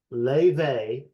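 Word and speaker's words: Laufey: number one and it is completely out of left deal genre wise for me yall are going to be like what in the world are you talking about this artist is called Le let me spell it for you dear listeners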